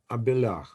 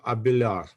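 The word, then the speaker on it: Abélard: Frenchman Pi Pierre abar abelar uh D is not pronounced Pier abelar so he lived in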